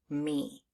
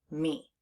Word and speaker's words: me: That first letter, the M, is making an expected sound. But the next letter, that E, instead of making a short E sound, it's making a long E sound, E. And that's unexpected, so we need to learn that part by heart.